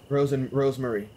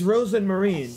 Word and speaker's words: Rozenmarine: Rosemary. It's Rosemarine. Shush it, you. Oh, shush, Rosemary. I'm going back inside. Yes. So she is mispronouncing. I didn't know if it was a translation error or if they just made a mistake. But no, she's literally just mispronouncing.